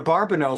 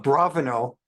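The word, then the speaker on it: Abravanel: shabab 1492 and barbanel some some pronounce his name of bravano because we only have the consonants in Hebrew and not the dots the vowels so some call him a barbino some call him a bravano when the Jews were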